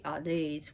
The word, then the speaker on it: Hades: don't want to call actually oddase would be pronounced right on these and you